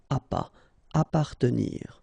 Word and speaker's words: appartenir: Appartenir, okay, double P, basically you don't pronounce the double, so you just pronounce appartenir.